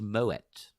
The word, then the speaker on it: Moët: it wrong mo a is Shandong it's actually pronounced moet but nobody pronounces it as moet but that